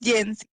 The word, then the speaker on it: Yancy: I think it's pronounced Yancy. Yancy? Hi, Is that how you pronounce it? Yancy. Yancy. Okay, Yancy. Did you have a question for us today? Yancy. Can you hear me now? Yes, I can hear you. Yes, it's Yancy.